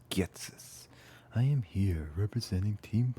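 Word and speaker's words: Ghetsis: My name is Getis. Is it Getis? Hatis? How do you say his name? Getsis. My name is Getsis.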